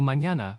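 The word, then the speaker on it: mañana: It makes an NI sound like in canyon or yin. So, mñana for tomorrow or nino for child.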